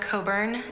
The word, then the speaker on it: Cockburn: My name is Coburn, and my last name is spelled Cockburn. I was in a DC